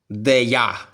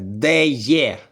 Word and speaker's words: Deye: його дехто любить називати але насправді не де я а хто я куди я Чого я ні запам'ятайте один раз і назавжди читається воно як деє деє так кажуть самі китайці самі